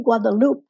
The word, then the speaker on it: Guadalupe: guadalupe to conejos and i say guadalupe in the french pronunciation because that was the